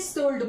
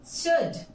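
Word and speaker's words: should: सल्ड बोलते हैं मै मैक्सिमम हम में से इसे शुल्ड बोलते हैं but friends it's शुड नॉट शुड सो कुड वुड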